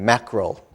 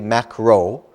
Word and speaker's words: mackerel: don't we kind of mackerel yeah and we don't say macro because some students i hear say macro like macroeconomics no not macro but it's mackerel with an l at the end so again if you